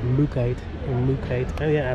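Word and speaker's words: mookaite: and vendors thanks i used to call this material mooca knight which is not the way you pronounce it i do believe it's called mookite in luke oh yeah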